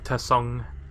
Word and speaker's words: Tsung: So where is Shang Tsung? If you want to address him proper, you have to pronounce the silent T.